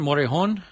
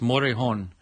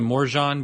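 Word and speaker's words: Morejón: the Rays Alberto for the Orioles Oh Adrian Morejon for the Padres and that is how you pronounce it by the way it's motor horn I've heard some people say Morgan but it's motor a horn that's the way you say it with the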